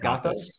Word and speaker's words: Gothos: Is that how it's pronounced? That's how I say it. Gothos.